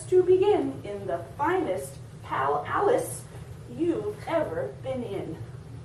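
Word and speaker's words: pal-alice: Your big birthday party soon starts to begin in the finest pal Alice you've ever been in. That is not a real word, pal Alice. Did you get that? It rhymes with Alice.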